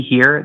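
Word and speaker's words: hir: Uh, they're pronounced see here.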